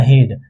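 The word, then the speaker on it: head: अब यहां पे इ ए का जो उच्चारण है यहां पे इ ए का उच्चारण ए से हो जाता है। इ ए का उच्चारण किससे होता है? ए से। जैसे एच इ ए डी। ये बोलता है कि इ ए का उच्चारण मैं बड़ी ई को नहीं मानूंगा। मैं किसे मानूंगा? ए के मान हुआ तो एच ई ए डी ये क्या हो गया हेड यहां पे क्या था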